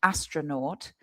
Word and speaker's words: astronaut: And the pronunciation of that, astro, and then that N-A-U-T is naught or naught, astronaut, which is the people who are in the spaceship.